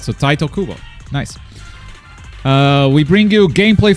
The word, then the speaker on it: Tite Kubo: All right, so Taito Kubo, nice.